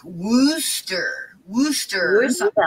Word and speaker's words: Worcester: that City because to me it should be pronounced warchester but the people there don't don't say ours at all so it's like Wooster Wooster or something like that Wooster yeah sauce